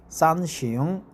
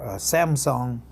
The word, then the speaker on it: 三星: So the pronunciation is different, but basically we share the same Chinese characters. Samsung, Sanxing, or Samsung.